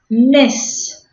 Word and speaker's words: Ms: La pronunciación es Miss.